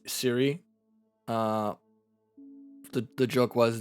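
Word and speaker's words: Cwry: apple it's spelled differently it is c-w-r-y but still pronounced siri okay i just spelled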